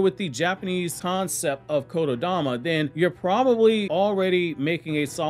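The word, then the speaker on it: 言霊: means spirit or soul, but it's pronounced as Dama when you put those words together. So in Japanese Shinto stories, Kododama was used in several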